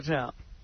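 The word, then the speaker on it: Takei: Is it Teai? This is a frequent misprononunciation of my name. No, it's pronounced te. I corrected. It rhymes with okay.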